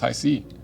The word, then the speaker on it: HiSea: We went on to learn We went on to learn that Hisea is pronounced Hisea.